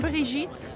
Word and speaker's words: Birgit: model is my name, because you pronounce it as Birgit, and I can give you already 4 different versions. So here in Paris, I'm Brigitte. In New York, I'm Birgit, which is basically the worst one.